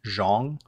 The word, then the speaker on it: Zhang: So this Zhang is actually pronounced Zhong.